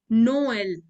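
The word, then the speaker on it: Noël: on the second one so is pronounced as Noel it breaks the it breaks the word into two two parts Co anons it breaks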